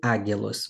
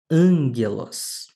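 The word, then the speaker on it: ἄγγελος: Não vai ser águelos, mas ângelos.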